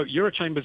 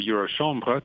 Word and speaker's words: Eurochambres: listeners that aren't familiar with the work of Euro shambra provide us with an insight into the organization so Euro Chambers is the or Euro shambra to use the correct pronunciation as you did is the European umbrella